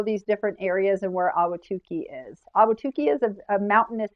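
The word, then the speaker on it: Ahwatukee: towards the south, you have an area called Awhatukee. It's still a Phoenix mailing address, but this is Awhatukee, and it's spelled Awhatukee.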